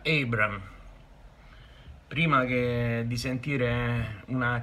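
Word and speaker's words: Abraham: Buongiorno a tutti, Abram, si pronuncia Abram. Prima che di sentire una camionata di Abram, vi dico che si pronuncia Abram.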